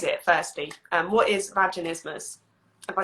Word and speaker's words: vaginismus: made like invented an easier word um it's pronounced vaginismus vaginismus yeah um and quite honestly it's rare that